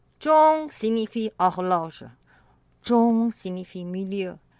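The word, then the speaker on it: 钟: Ils sont du même son, zhong, Z-H-O-N-G, et du même ton, premier ton.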